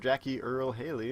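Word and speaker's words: Jackie Earle Haley: Jackie Earl Haley. Is that how you pronounce his name?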